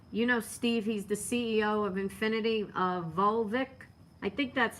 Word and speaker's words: Vulich: that Steve, Steve, he's the CEO of Infinity, Volvic. I think that's how you say his name. You know who I'm talking about. And let me see, Steve. Yeah, it's Stephen Vulich, V-U-L-I-C-H.